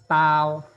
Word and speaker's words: 刀: Nah, ini bacanya ada tau, tau, tau, bisal artinya.